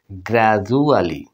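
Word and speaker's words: gradually: একটা বন্ধুরা বানান শিখে ফেললাম এরপরে দেখুন বন্ধুরা গ্রাজুয়ালি গ্রাজুয়ালি মানে ধীরে ধীরে এখানে দেখুন ডি এর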